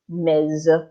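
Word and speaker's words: Ms.: so instead of returning to miss you become mazey yep if you do not want to reveal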